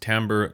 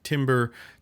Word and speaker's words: timbre: actually is and yes it's pronounced timbre not timber timber is something like